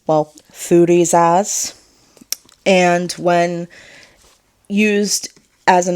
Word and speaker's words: Thurisaz: Thurisaz is pronounced, well, Thurisaz, and when used as an actual alphabet, it makes the sound th, so th.